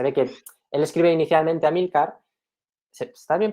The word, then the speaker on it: Amílcar: Y luego, bueno, tenía aquí anotado que, para el que quiera saberlo, Amílcar y Belisario, se ve que él escribe inicialmente Amílcar, está bien pronunciado Amílcar, ¿no?